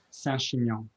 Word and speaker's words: Saint-Chinian: How do the French say Saint-Chinian? Saint-Chinian. Chinian.